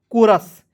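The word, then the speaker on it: chorus: एच को आपको यहां पे साइलेंट करना है। ठीक है? तो सी ओ को हो जाएगा। आर यू एस को पढ़ेंगे रस। क्या हो जाएगा दोस्तों? कोरस।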